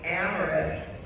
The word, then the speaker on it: Amaris: um I heard that it's pronounced like glamorous without the G okay glamorous without the G please join me in recognizing Amorous Leal thank you leala